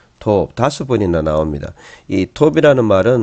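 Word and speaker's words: טוב: 토 그 다음에에 또 톱 다섯 번이나 나옵니다이 톱이라는 말은 뭐 진짜 제일 좋은 단어죠 히브리어 단어 중에 샬롬하고 톱하고 보통 샬롬은 평강이라는 모든게 좋은게 톱이죠 그래서 또 토브 이렇게 발음하기도 음제를 두개로 도읍은 하나로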